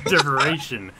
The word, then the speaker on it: Derivation: Derivation. It's like inspiration. Derivation, right? It's No. like, Close. it's like saying inspiration with a D.